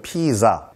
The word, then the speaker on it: pizza: 피자. 이탈리아 말로는 그 피자는 영어 스펠링이 P-I-Z-Z-A 또 영국에서는 P-I-Z-Z-A 우리가 Z라고 하는 거 그걸 한번 딱 끊어줘야 되기 때문에 피자 이렇게 한번 발음하셔야 돼요.